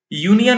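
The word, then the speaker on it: union: यूनियन में देखिए तो यू लेटर तो वॉवेल है पर इसका उच्चारण क्या हो रहा है, य दीर्घकार, यानी ये भी व्यंजन ध्वनि से शुरू हो रहा है।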